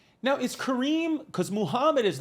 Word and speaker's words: Kareem: your actual name birth certificate name crem but but he was like it's pronounced Kareem and then I grew up and one day in and I was like these people are so dumb they don't know how to say kareim cuz I'm you